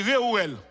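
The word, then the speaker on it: Réuel: Comment prononcer le? Très bien, ça dit Réouel.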